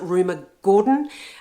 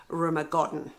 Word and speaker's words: Rumer Godden: And I do recommend Rumer Godden, or some people pronounce it Rumer Gordon. However you pronounce it, that's up to you. But I really do prefer, and I think it is Rumer Godden.